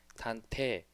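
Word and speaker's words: 探偵: 그 요런 발음으로 다한테 단테 단테이라고 e 자를 세게 발음하진 않고요 거의 이제 약하게 단테라고 해가지고 이자가 거의 이제 묵음 처리 비슷하게 되는 그런 형태로 발음이 됩니다 그래서 탄테이가 아니고 단테라는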